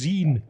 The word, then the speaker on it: zine: It's pronounced zine.